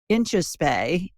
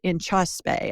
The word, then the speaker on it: Inchauspé: Glucose Revolution by Jessie Inchauspé. I think that's how she pronounces it. Inchauspé, I think is how she pronounces it. It's French.